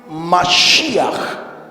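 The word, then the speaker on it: משיח: Así se escribe Mashiach, la expresión que se tradujo al español como Mesías.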